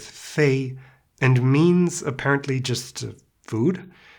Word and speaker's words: 餥: It says: sounds like F + EI, homophonous with fēi and means, apparently, just, food?